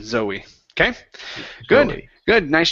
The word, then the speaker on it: Zoe: Yeah, instead of Zoe, okay, it's a name, Zoe.